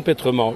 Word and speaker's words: Pétrement: aiment la folie alors jean pétremand je prononce bien votre nom vous prononcer très bien mon prénom alors vous